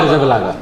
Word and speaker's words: Arrizabalaga: Kepa Arrizabalaga. Arita Balaga. So it's like with all Z's in Spain is yeah, pronounced Basque.